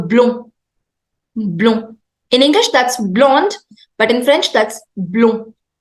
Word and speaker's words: blond: On continue avec blond. Blond. D is silent.